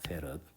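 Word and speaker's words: 패럿: 페럿이라고 읽습니다. 페럿. 페르데이의 이제 사람 이름을 따라서 나온 건데 그래서 페럿이라 그런다는 것을 알 수 있습니다.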